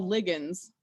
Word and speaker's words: ligand: Sometimes you might hear them, people pronounce them ligands, but ligands is, I believe, technically the correct pronunciation. But it's kind of like Caribbean. You know, you'll hear people say it the other way. But ligand is the correct, technically correct pronunciation.